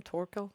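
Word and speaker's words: Thorkell: So, Yeah, because her and how do you pronounce his name? Thorquil.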